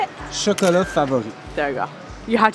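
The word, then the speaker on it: Chocolats Favoris: Chocolat favori.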